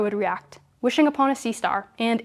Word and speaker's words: CSTR: The batch, the CSTR pronounced sea star which is basically a mixed or stirred tank reactor and the plug flow reactor PFR model.